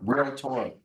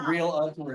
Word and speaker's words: realtor: Realtor. He shamed me. No, there's no real other, it's realtor. There are 2 syllables.